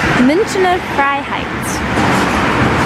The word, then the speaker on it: Münchner Freiheit: Right now, we are walking to, how do you pronounce it? Münchner Freiheit. Münchner Freiheit, which is a subway stop where there's apparently